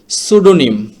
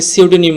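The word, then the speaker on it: pseudonym: না তারপরের শব্দটি হচ্ছে সুডোনিম অনেকে সিউডোনিম বলেন তো এটা আসলে সোডোনিম সঠিক উচ্চারণ। এখানে পির উচ্চারণ হবে না।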